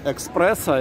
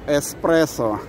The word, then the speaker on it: эспрессо: Это так же, как что будем пить, экспрессо или эспрессо. Кто-то говорил то, что правильно говорить эспрессо.